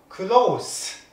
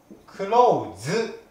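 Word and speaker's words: close: 方は同市です発音が違います釣りは全く一種ですが形容詞の方は crow 数そして労使の方はクローズです濁りますこちらにごりません工藤す k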